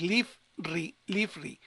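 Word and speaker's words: לפרי: que es la I, entonces es leaf, fíjense cómo se los puse aquí, es leafri, que quiere decir por un fruto. Fíjense cómo cambia mucho. Si no tuviéramos esta consonante, esta, esta Begat Kefat tendría que llevar lo que es el Dagesh Lene, y entonces esta cheva también sería sonora, y entonces fruto es solamente fruto, la palabra fruto es peri, pero ya la preposición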